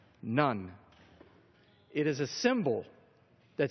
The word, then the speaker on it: ن: This is the Arabic letter for in, and it's pronounced none.